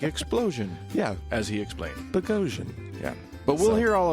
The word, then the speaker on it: Boghossian: And We the had a correct nice- pronunciation of his name. Indeed. Like explosion, Yeah. as he explained. Boghossian.